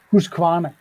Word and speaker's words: Husqvarna: do you do it properly class go on who's Kawana there you go oh the lady that I